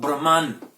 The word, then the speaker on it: Brahma: In a neuter gender, we have Brahman. Brahman is in the neuter gender, and Brahma with a long A is masculine gender and designates the Lord of creation, the God, Chaturmukha, 4-faced Brahma.